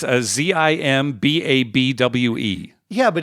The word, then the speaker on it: Zimbabwe: how do you spell Zimbabwe it's a Z imba BW e yeah but it's pronounced Zimbabwe yeah as in Bob way here now I'm gonna